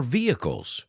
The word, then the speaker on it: vehicles: it to power our vehicles let's pronounce that word together the H is silent vehicles and they even provide